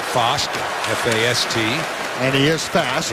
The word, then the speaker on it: Fast: It's pronounced Fost, F-A-S-T.